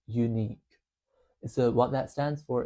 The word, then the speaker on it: U-Neac: As you can see in the background there, it's spelled U- N E S, but it's pronounced unique.